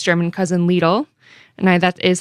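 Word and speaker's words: Lidl: grocery giants like Aldi and its German cousin leele and I that is how you pronounce it I did look it up leele Kroger Walmart and Sprouts Farmers Market are expanding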